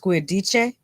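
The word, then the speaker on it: Giudice: I think it's pronounced Guidice. Or the Italian pronunciation, to come flip Bilal's little bed table.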